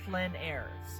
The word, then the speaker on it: plein air: But the thing about what we're going to be focusing on in this lecture is this idea of plein air. It's spelled P-L-E-I-N-A-I-R-E.